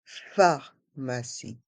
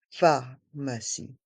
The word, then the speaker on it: pharmacie: dans le mot pharmacie le P et le H se prononce fe pharmacie et le E à la fin est mué pharmacie la pharmacie la piscine